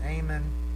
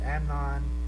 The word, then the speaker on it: Amnon: It's not Ammon, it's Amnon, who was the son of Ahinoam of Jezreel.